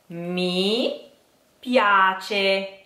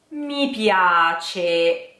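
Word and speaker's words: mi piace: okay so me piace me piace here we have a funny thing which is difficult even when you speak Italian me piace with closed e at the end of piace and open e afterwards so you have me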